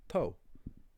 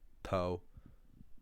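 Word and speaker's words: togha: Another one is OGH or OGHA, which is pronounced, in Munster at least, O. So you get words like toe, or in other dialects, toe, which means great.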